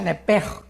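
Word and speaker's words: נפש: La palabra alma es nepesh, en el hebreo, apúntalo, nepesh. Se pronuncia nepej, porque la CH en hebreo es j, nepej.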